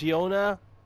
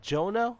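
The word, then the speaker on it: Juna: you think I am it's Yona not Jonah wait wasn't this spelled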